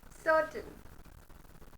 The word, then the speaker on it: certain: Next, certain, R is silent.